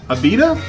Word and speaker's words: Abita: drinking Purple Haze by Abita providin how do you say that I say it beat it I'll say that betta - the first time